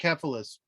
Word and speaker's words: Cephalus: and this guy cephalus it's pronounced cephalus he's the older man